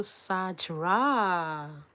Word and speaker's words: Sajra: Shout out to Sajra. Okay, it is pronounced like Saj.